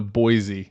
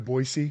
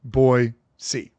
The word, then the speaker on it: Boise: the capital of Idaho think of a boy and then the capital letter c yeah it's easy boy c yeah yeah I think